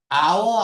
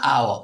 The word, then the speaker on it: hour: 우리가 hour 앞에는 on을 쓰죠. 모음으로 발음되니까 H가 무음이야. 그래서 모음으로 발음이 되면 on을 써야 돼. 그래서 시험 문제는 이렇게도 많이 나옵니다. 어, 집을 받습니다. by an hour.